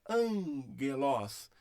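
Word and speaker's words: ἄγγελος: Então é angelos, angelos.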